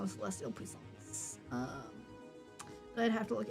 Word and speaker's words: puissance: however, Puissance. puissance is an acceptable pronunciation.